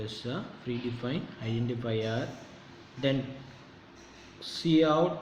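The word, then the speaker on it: cout: free defined identifier then c out pronounced as a c out that identifies monitor as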